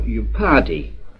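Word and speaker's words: upadhi: It is the manifest base, or upadi, that's spelled U-P-A-D-H-I, of all sentience, life, and intelligence, or consciousness in a general sense.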